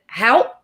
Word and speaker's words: Haupt: Is it Haupt? Technically, yeah, but we say, like.